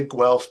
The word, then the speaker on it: Guelph: So we had to trick AI into how to say Guelph by writing G hyphen elf.